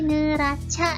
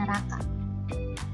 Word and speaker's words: neraca: Perak gitu ya Eh bacanya ini neraca ya bukan neraka nah terus ada lagi